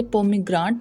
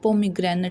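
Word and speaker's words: pomegranate: कुछ लोग इसे पोमीग्रांट बोलते हैं जो कि रॉन्ग प्रोनाउंसिएशन है। इसकी राइट प्रोनाउंसिएशन है पोमीग्रेनेट सीड्स, अनारदाना।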